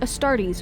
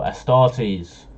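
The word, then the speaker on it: Astartes: is the superhuman adaptive star DS who have come to symbolize the Imperium however I've been saying it wrong still a star sees all right elite warriors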